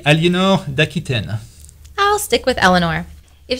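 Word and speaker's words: Aliénor d'Aquitaine: How do you say her name in French, Philippe? That would be Eleanor d'Aquitaine.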